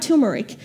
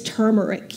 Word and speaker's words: turmeric: It's not turmeric. It's turmeric. You pronounce the R, okay?